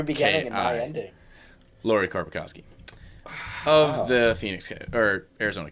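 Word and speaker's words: Lauri Korpikoski: Lori Korpikoski, K-O-R-P-I-K-O-S. It's a little mix of both of ours, hey? Your beginning and my K-I. ending. Lori Korpikoski.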